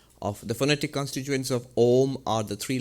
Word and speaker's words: Om: In fact, the A and the U, in English you write it as A-U-M, but the A and the U, if you put it together by the rules of Sanskrit grammar, it becomes O. So the way we write it in English is actually absolutely correct. O-M is absolutely correct.